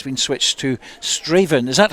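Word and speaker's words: Strathaven: is going ahead but it's been switched to straven is that how it's pronounced David Ferguson straven is it art yes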